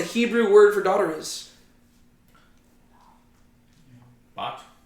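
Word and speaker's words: בת: Bot. Bat, right? If you were to spell it out in English, B-A-T-H.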